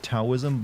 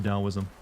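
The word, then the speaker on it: Taoism: primarily in like China I always say it tosm when I know it's pronounced dosm I know like literally nothing about it though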